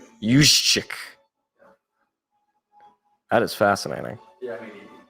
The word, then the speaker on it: Juszczyk: Yeah, pronounced Juszczyk. Juszczyk.